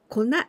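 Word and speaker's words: 粉: we say konna kona but here we pronounce kona it means powder powder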